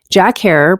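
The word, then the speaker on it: Jack Herer: her and G13 Haze Jack her pronounced like terror is a high energy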